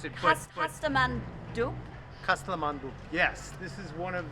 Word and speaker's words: Kasthamandup: I They'll teach us how to pronounce it. Kasthamandup? Kasthamandup.